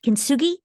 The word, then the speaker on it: kintsugi: I'd love you to share a little bit about kintsugi.